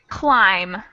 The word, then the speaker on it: climb: a new word now and your word is climb as in climb a tree blind no so